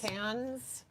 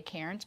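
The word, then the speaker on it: Cairns: c i r ns which a lot of people will say cannons but if you live in Australia it's called cans.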